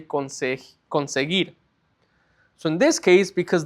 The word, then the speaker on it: conseguir: So you wouldn't say conseguir, right? The U is silent. So you would just say conseguir.